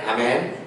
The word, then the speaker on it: amin: Yaitu bacanya pakai imalah. Ya-nya ini dibaca miring. Ayat Bismillahi majreha. Jadi bacanya amin.